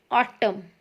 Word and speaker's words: autumn: Seventh one is autumn, AUTUMN, autumn. We will not pronounce this word as autumn. We will only pronounce this word as autumn because N is written in the spelling but it is silent.